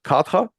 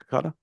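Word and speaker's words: kadha: lemongrass chai which is kata. Is that how it's pronounced?" Kada. Katada. Is it a hard D? Kada.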